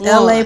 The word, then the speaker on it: Elay: This is LA, pronounced like LA, like the city.